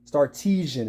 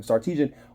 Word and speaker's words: Sarkisian: Sarkisian is how you say his name. I think that's how you say his name. Sarkisian really has a great system when it comes to the University of Texas.